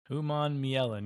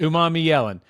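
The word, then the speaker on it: Umanmielen: Uman Yellen. Yep. Uman Yellen.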